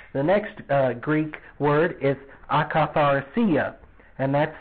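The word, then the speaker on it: akatharsia: you the spelling the next greek word is acaphar sia and that's spelled a-k-a-t-h-a-r-s-i-a now this means impurity of mind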